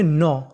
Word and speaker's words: know: आपको के का उच्चारण नहीं करना होता, के हमारा साइलेंट रहेगा, हमें खाली उच्चारण करना है एन का। तो इतनी मीनिंग बनी एक। के एन ओ डब्ल्यू, इसे पढ़ेंगे नौ।